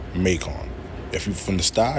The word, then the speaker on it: Macon: That shit says Macon. I know it look like it say Macon, but it says Macon. It's pronounced Macon.